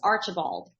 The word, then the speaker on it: Archibald: the last name uh please help me to pronounce it my last name is Archibald after ball do you know I knew how